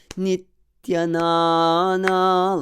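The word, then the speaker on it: Nityānanda: But the more correct way to show the heaviness of the syllable here, of the syllable ni, is to have a pause before the tya. So Nityanana, like that.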